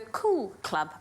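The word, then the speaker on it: Koo'l Klub: on down to the cool club pop-up restaurant at bacardi holiday club you have to say it like that cool cool cool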